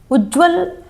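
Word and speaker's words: उज्ज्वल: उज्जवल अगर हम उच्चारण करें तो भी देखिए पूरा ज उसके उच्चारण में नहीं आता। उज्जवल दोनों बार ध्वनि कैसी निकलती है? आधे ज की। तो शब्द भी क्या शुद्ध है? उज्जवल।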